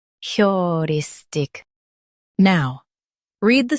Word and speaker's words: heuristic: Emphasize ris in US and your in UK. Keep tick soft.